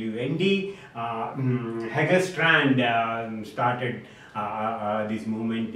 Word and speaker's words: Lund: united states in the university of luth pronounced as lundy hagger strand started this